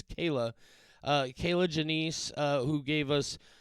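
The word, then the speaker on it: Kier-La: women by uh I found out that you pronounce uh her name Kayla uh her name is pron it's spelled k i e r-la a I always thought it was just kirla pronouncing it phonetically but no apparently it's Kayla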